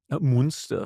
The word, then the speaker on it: Münster: Is that the right way to say it? Also, I say Münster, yes. What do you say? Now I say Munster. Oh, I thank say you. Munster. If I see the umlaut.